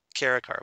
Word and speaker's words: Kara: Kara, but yeah, it's Kara.